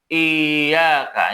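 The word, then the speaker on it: إياك: Iyaka bukan iyaka bukan hua bukan tawaba tapi dibaca iyaka.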